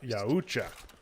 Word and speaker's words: Yautja: Well, we found out it's But Yautja. Yautja, yes. That is officially the correct pronunciation.